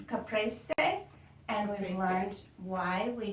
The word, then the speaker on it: caprese: is wonderful the weapon we've learned how to pronounce caprice caprese c caprese and we've learned why we don't some folks